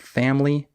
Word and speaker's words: family: skipped syllables for example in the word family the I is silent we don't say family